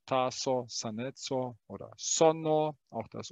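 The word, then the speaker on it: saneco: Sanetso, sana ist gesund. Sanetso ist Gesundheit. Dieses C wird immer als C ausgesprochen.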